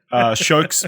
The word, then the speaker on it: Sjokz: because it's spelled SJOKZ, and if I didn't know how to pronounce it properly, I would probably fuck it up too, to be honest. So, but it's just Shokes.